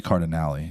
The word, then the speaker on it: Cardinale: It's got to be Cardinale. It's Italian. You always pronounce the E in the Italian names.